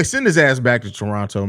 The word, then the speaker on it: Toronto: his ass back to Toronto man or Toronto I'm sorry the Canadians always correct me especially you're not supposed apparently you're not supposed to pronounce the second T but send his ass